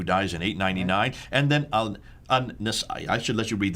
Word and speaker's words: Al-Nasa'i: Al-Fadi, his name is not Al-Nisa'i, it's Al-Nasa'i.